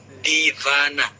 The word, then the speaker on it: Diwana: Kayak misalnya Diwana itu kalau di India bukan, kalau bacaannya kan tulisannya Diwana kan, Diwana. Tapi kalau untuk bacaan India itu Divana kayak gitu. Jadi Divana.